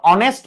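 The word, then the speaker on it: honest: Article article ব্যবহার অনেস্ট অনেস্ট হনেস্ট না। আমরা জানি যদি উচ্চারণটা কি হয়? তোমার ভালের মত হয় তখন সেটা কি হয়ে যাবে? এন বসবে।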